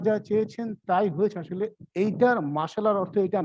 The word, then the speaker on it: মাশাআল্লাহ: মাশা করে হাঁটি না, মাসা, মাসার দেখেন মাসা, মাসা করা। তো এনিহাউ সঠিক উচ্চারণটা হবে মাশা আল্লাহ।